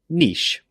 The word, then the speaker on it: niche: Niche, niche. I like to say this with the long E sound, niche.